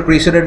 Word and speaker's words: precedent: good rule where this this word is pronounced as precedent so that you also get the connection to the idea of precedes okay and president u.s.